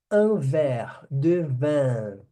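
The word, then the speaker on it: verre: taça de vinho tá a palavra copo e taça se pronuncia da mesma forma ver ver que significa vidro Ok vidro então o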